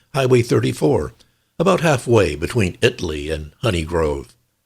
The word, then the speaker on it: Italy: The town of Italy, spelled like the country Italy, but pronounced Italy here, and Honey Grove.